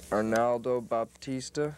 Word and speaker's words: Arnaldo Baptista: Arnaldo Baptista, is that how you pronounce his name?